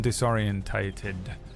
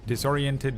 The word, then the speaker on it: disorientated: Uh, a natural 21 or they become disorientated. Uh, disoriented. Disoriented is how Americans say it and disorientated is how English say it, but I've never said disorientated in my life.